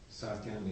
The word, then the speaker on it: Sakyong: But Saken is spelled Sakyong.